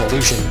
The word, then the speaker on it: Elysian: on my way to elysian here or illusion i don't know why they pronounce it illusion the uh i'm just